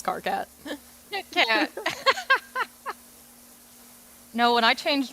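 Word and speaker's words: Karkat: So it's spelled like Kit Kat, but it's Carcat.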